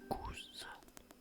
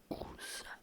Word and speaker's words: Gouges: mère couge et bien il faut savoir que gous avec un Z gous et ben ça pouvait également se prononcer gouche à l'époque et après elle a